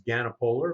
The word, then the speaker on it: Ganapoler: today you are welcome quick correction on the name pronunciation it's ganapolar but you know call